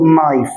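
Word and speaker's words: knife: نايف اللي هي سكينه طبعا الكي لما بيجي بعدها ان الكي بتبقى سايلنت مش بتتنطق فبقول نايف نايف سكينه طب عايز اجي معاها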